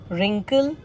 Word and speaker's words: wrinkle: कहने का वही मतलब हो गया कि W दोनों ही केसेस में साइलेंट हुआ. Example: whole, rack, rap, wrist, wrinkle, wriggle, write, to, sort, answer, whom.